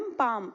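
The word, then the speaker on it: palm: को हम कहते हैं पैम का एल एम पैम एल साइलेंट होता है मुट्ठी और मुट्ठी को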